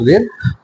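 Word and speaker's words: read: क्या सी डिड नॉट रीड book. Not यहाँ उच्चारण में ये बोलेंगे कि रेड।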